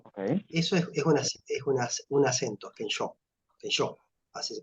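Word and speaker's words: 見性: Kensho, así se pronuncia.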